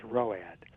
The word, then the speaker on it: ROAD: 70s there was a an acronym road which we pronounced road and it meant retired